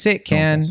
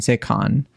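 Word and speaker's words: Cannes: it's the C the can film festival I've heard you say you could say can or you can say con but you don't pronounce the S that's the thing um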